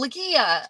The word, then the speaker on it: Lagia: Okay, it's pronounced La Gia. La Okay, Gia. so G is, yeah. Okay. Yeah, it's like it's almost like 3 syllables there.